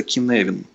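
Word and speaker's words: Cynefin: Это такой фреймворк, называется Kinevin. Он пишется совсем не так, как слышится. Вот, пишется Kinevin через Y.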